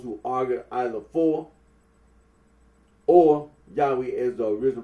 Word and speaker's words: Yahweh: of those who regard this name as anciently pronounced Yahweh, like the Samaritans.